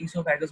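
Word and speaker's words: oesophagus: ईसोफेगस। ओ silent होता है, ईसोफेगस बोलते हैं।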